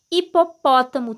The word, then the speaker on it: hipopótamo: no início da palavra a letra h vem sempre seguida de vogal e não é pronunciada porque não representa som algum olha só os exemplos